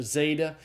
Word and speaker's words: zeta: the english word days now there is some controversy about how to pronounce of the zeta even in standard pronunciation some people want it slightly plosive like a DZ together but i teach it as a simple z sound i think most people do teach zeta as a simple z sound so zeta is the Z sound pronounced like the z in days the next letter is